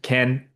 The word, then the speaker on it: Ken: So Ken um sorry I mispronounced your name um earlier. Not keen. Ken, appreciate you for the submissions.